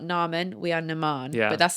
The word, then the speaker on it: Naaman: It I mean, if you remember that we're Lebanese, it makes sense because in Arabic that both the A's are pronounced. It's Nan.